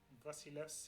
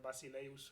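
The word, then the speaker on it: Βασιλεύς: Vasilevs, yeah, that's how you pronounce it. Apparently, I hate it. I much prefer Basileus or something like that, but apparently the right pronunciation is Vasilevs.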